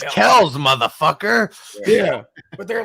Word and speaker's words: Kelce: Actually, it's Kells, motherfucker.